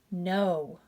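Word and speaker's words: know: Silent K, here we have K-N-O-B, that's going to be pronounced with just the N sound. Knob, knob. Here we have K-N-O-W, silent K. No.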